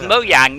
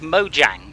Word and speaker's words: Mojang: would pronounce it differently in the same way the connect pronounce it is mo yang not mojang for instance yeah but